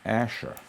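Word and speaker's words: Asscher: The Asher was designed about 70 or 80 years ago, and it's now come back in full force. Asher is spelled A-S-S-C-H-E-R.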